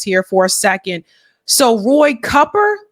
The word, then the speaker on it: Cooper: for a second so Roy cupper is it copper everyone I know calls him Roy Cooper because it's spelled Roy Cooper but anyway uh Roy